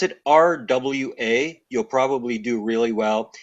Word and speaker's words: Roy: this way if you spell it if you pronounce it RWA you'll probably do really well if you say Roy I'll endure it oh I see I'll endure